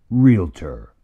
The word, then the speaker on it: realtor: my job is done realtor two syllables One Voice